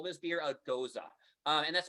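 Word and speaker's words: Gose: a g-o-s-e right there i always think of a nose with a g but adding uh like you kind of forget how to say it um yeah it goes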